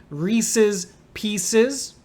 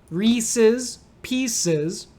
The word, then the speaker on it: Reese's Pieces: One is long E sounds on re and P, Reese's Pieces. And some people will make the second E a long E too. Reese's Pieces, which is kind of a cute way to say it.